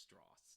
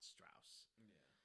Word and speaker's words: Strauss: meeting with Oppenheimer that it's pronounced Strauss not Strauss uh that goes into